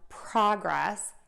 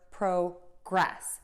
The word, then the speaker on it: progress: of the time, that when we have a noun, we're going to stress syllable one in a two-syllable word, and when we have